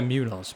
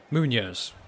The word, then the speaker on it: Muñoz: Well, we say it differently in England. We say Munoz, but over there they say Muñoz.